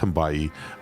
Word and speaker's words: Hambaye: FE2, and Noah, and it rhymes with Hawaii, so he got it right. It's Hambaye.